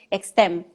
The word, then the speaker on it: Extem: podamos abordar, fundadora de Extem. Sí, lo estoy pronunciando bien porque tiene la X delante. La X Extem, así es.